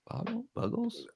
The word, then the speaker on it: Buggles: Oh, it was the Boggles video killed the radio star. Yeah. And do you know Boggles or Buggles? Buggles? I always pronounce it Buggles, something like that.